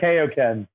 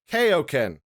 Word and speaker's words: Keoken: actually Keoken. Keoken. So it kind of sounds like the move. Yeah. Yeah, Keoken.